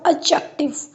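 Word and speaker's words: adjective: Next [नाक से की जाने वाली आवाज़] वर्ड्स एडजेक्टिव। यानी कि डी और जे को कंबाइन करके जा साउंड प्रोनाउंस की गई।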